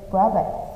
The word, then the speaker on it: Robert: Okay, so Robert is a name. So you will say Robert with a chấm is here. Okay, raw and then birds.